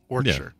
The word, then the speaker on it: Warwickshire: You know, I said, okay, well, we don't pronounce the second W, but apparently it's not Shire, it's Sure. Warwickshire.